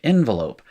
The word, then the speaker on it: envelop: And it's the example I used of envelope. When it's used as a verb, you change the way it's pronounced, and you end up with a schwa in a different place. It's envelop, right?